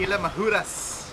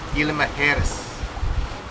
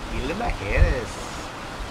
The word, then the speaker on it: Isla Mujeres: left directly south, directly downwind to Mexico, to Isla Mujeres. I think I said it right that time. Been practicing for weeks. Yeah, I didn't say it right. Isla Mujeres. Isla Mujeres is where we're going.